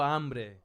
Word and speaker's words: hambre: Isn't H is still a in Spanish? No, it's silent. It's like Yeah, like tengo hambre. Exactly. Hambre. You don't pronounce it.